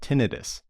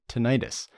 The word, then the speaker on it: tinnitus: This was extremely fun to hear about, which, pun intended, I get numerous questions about tinnitus, sometimes pronounced tinnitus, where you experience a sharp piercing sound or ringing in the ears.